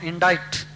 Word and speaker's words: indict: Arraign means accuse, charge in a court, or indict. INDICT. The C is silent.